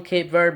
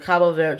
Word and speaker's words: Cabo Verde: Yeah, I just usually call them Cape Verde, but Cabo Verde, just have the correct pronunciation.